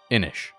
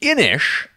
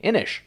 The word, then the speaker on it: Inis: how the game works inish which that is the correct pronunciation as a uh YouTube commenter informed me I was calling it inis and that's wrong apparently inish is a uh kind